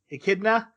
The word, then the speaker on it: Echidna: witch's tea party uh this is e kinda a kidney echidna don't say it wrong or wise will kill you um that's right echidna